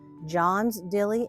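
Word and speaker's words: Jean's Dilly: a small it's called it's spelled Jean Dilly but it's actually pronounced John's Dilly Alberto Spruce and it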